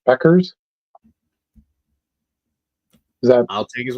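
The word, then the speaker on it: Bueckers: Uh Max correct you says it's pronounced Beckers.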